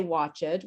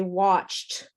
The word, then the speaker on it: watched: But actually, we don't say watch it. We say watched.